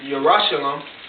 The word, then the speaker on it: Yerushalayim: It says, but Jerusalem, which is how you say the word Jerusalem in the Paleo-Hebrew, Yerushalayim.